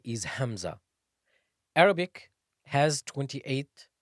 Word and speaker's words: hamza: a letter by itself Hamza is pronounced from the deepest part of the throat the deepest the fourest